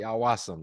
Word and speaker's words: Awasom: I'm joined today with and is it aasum is that how you pronounce it you got it D it's aasam that's correct awam sweet and I got some